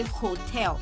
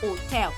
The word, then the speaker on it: hôtel: What you say is l'hôpital, l'hôtel, because H is seen as a vowel, and H is usually silent in French. That is why you don't say hotel. You don't say hotel. You say hotel. So basically your pronunciation is beginning from the O.